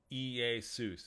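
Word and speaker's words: Iēsous: Iesus is how you say it. E-E-A-Y-S-O-O-C-E. That's where you get Jesus. The transliteration is L-E-S-O-U-S. But you say it Iesus.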